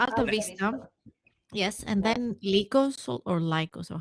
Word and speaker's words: Lycos: Lycos? How would you say, Kerstin? Yeah, I mean, Well, lichens is the word for wolf, like change the shapeshifter wolves.